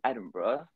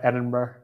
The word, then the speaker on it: Edinburgh: go we did travel up to Scotland in Edinburgh just for a couple days and yeah that